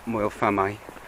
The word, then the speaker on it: Moel Famau: city, so it's quite iconic, Moel Famau, or Moel Famau, as is the correct pronunciation.